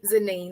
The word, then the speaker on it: Zenine: name you're doing great it's Z zenine that's correct um I just want